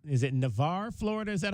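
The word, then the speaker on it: Navarre: He's from uh N is it Navar, Florida. Is that how you pronounce that? Yes, sir. Navar, Florida.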